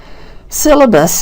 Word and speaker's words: syllabus: Syllabus has the first syllable stressed.